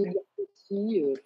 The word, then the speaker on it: Edgar Cayce: Edgar Cayce parce que c'est simplement la prononciation avec l'accent américain. Donc, voilà, on dit Cayce ou pas l'accent américain, mais en règle générale, on dit Edgar Cayce.